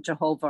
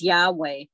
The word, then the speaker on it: Yahweh: Okay, so at the top you have Yahweh, and he's the Father, but people don't say it correctly. They call him Jehovah or the Lord down there. Okay, his name is Yahweh.